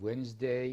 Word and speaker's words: Wednesday: am in debt yes pronunciation silent letters we have logically we have climb we have muscle we have wednesday we have make come